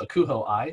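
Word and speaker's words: ACUHO-I: of my association which is the acronym is pronounced akuho i so you're going to see the acuh hyphen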